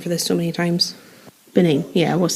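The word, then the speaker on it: Bennane: Benane.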